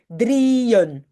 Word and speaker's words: drieën: Pour dire attention, on prononce d'abord drie et puis un. Il y a un nouveau morceau qui commence là où sont les petits points. Ça veut dire ça.